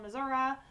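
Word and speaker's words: Missouri: I settled on one graduated from school in Missour um and yeah yes that is how you say it I work for professional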